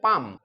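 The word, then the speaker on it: palm: দাঁড়িয়েছিল আপন উপরে হিজ পাম পি এল এম পালাম না উচ্চারণ হবে পাম ডিয়ার স্টুডেন্টস আজ আমরা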